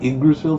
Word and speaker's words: Yggdrasil: You got Yggdrasil from a Y and 2 G's next to each other? That's how you say it.